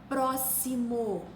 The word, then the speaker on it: próximo: como se fosse esquece próximo se escreve com x mas se pronuncia como se fosse SS exato se escreve com